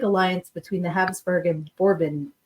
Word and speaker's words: Bourbon: between the Habsburg and bourbon bourbon Dynasty bourbon bourbon spelled like bourbon so I'm going to say it that way yeah uh the Newly